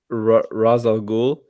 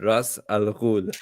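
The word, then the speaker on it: Ra's al Ghul: Second one, Raz Al Ghul, or if you want to pronounce it properly, what's it? Ras Al Ghul. That's how you would say it in Arabic, I think.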